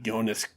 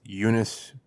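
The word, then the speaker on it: Joonas: After that, it was I'm going to say his name wrong, like Jonas. Go ahead, you know it? It's Eunice Suotamo.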